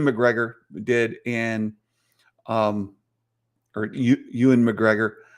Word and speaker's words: Ewan: I saw some interviews, and Ian McGregor did, and Ewan McGregor. Always say it IAN, Ian, but it's EW, right? Ewan McGregor. I always pronounce it wrong, but that being the